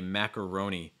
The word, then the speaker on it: macaroni: want the full form for mac it'll be macaroni maca schwa sounds like maca maca and then rhony o sound fab knee sound okay macaroni macaroni okay macaroni and cheese heavier stress on cheese